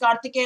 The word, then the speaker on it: Kartikeya: Well, Kartikeya says he's from Delhi and it's pronounced Kartikeya only.